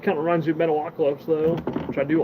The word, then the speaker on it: Metalocalypse: Metalocalypse. That's how you say it. Say metal, you say oc, then you say ellipse.